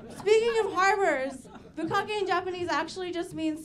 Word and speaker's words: bukkake: It's bukkake. It's the short vowel, right?